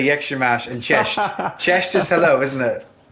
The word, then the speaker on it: Jak się masz: Jak się masz is how are you, isn't it?